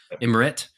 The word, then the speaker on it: Emmert: Mark Emmert is how you say his name? Emmert.